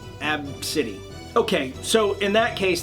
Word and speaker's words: Abcde: okay so apparently the kid's name is ABCDE pronounced AB City okay so in that